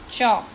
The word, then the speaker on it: chalk: Okay, next is chalk. Now in chalk, L is silent, so we can write here walk and talk.